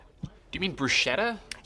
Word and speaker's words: bruschetta: Do you mean bruschetta? Yeah, brusqueta. Why are you saying it that way? That's how it's supposed to be pronounced.